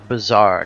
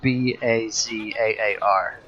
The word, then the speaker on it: bazaar: So, Bazaar, not like Bizare, is that how you spell that? But Bazaar.